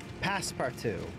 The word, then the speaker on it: Passepartout: Passepartout. That's how it's pronounced.